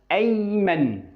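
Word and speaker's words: أيمن: طيب هاجي الاسم اللي بعده ايمن. ايمن. فبقول ايمن. يبقى هنا قرأت الالف اللي عليه همزة القطع من فوق.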